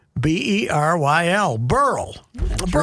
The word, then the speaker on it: Beryl: Not barrel. No, it's BERYL. If it's male, it's BERYL Ives. But if it's BERYL, it's BERYL is BERYL. It's BERYL. Yeah, it's pronounced with 2 E's, BERYL.